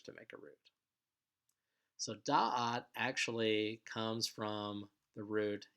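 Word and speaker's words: דעת: Next word is da'at, which means knowledge. And this word is actually stressed on the first syllable, so it's da'at.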